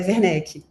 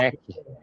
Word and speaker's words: Werneck: É Werneck a pronúncia? É Werneck. Werneck Fundado. Werneck.